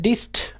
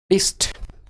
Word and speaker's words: deist: उसको क्या बोलते हैं, डिस्ट, DE डेस्ट बोल। इसको जब आप प्रोनाउंसिएशन सुन के डेस्ट डेस्ट सुनाई देगा, पर ठीक है आप स्पेलिंग याद करिए, DEIST, DEIST, DEIST।